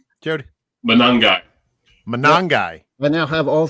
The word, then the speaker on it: Monangai: Kyle Monangade. How do you say that name, Jody? Monangai.